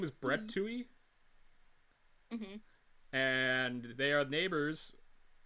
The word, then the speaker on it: Toohey: Yeah, Because I remember you called them like the Toothies or something. yeah. I thought it was Toothies, but no, it's a Tuies. That's Tuies. You don't pronounce the T.